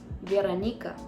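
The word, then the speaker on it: Veronika: So, in Russian, you pronounce my name as Veranika.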